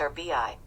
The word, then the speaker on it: arby: looks like an arby like a ferret pronounced our bi who is this he